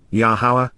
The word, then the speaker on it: Yahowah: One and Only God yahwah yahwah an accurate pronunciation of yahovah based upon his Torah